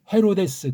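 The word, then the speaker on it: Ἡρῴδης: 원문 발음을 직역하면 헤로데스, 그렇게 해야 돼요.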